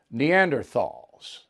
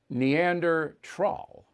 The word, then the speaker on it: Neanderthal: going to call them neanderthals that's what biden called them now that was given to him he didn't make it up and he mispronounced neanderthal which i did too it's neander troll i didn't know that